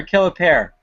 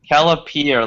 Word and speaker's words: Kellier: time Ryan is it Kelly or kellar neither kellier like peer pressure gotcha well there you